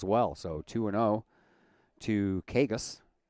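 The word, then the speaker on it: Cagas: So two and0 to Kagas. C A G- A S. It's how you spell the last name, but pronounce it Kagus.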